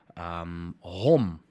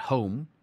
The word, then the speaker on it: hom: Hom. Hom. Basically, as you see it. Not home, hom.